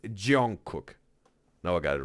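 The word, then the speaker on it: Jungkook: It's Jon Cook. Now I got it right. Thanks, Miguel, for helping me out to pronounce it right the right way. Not butchering Jong Cook's name.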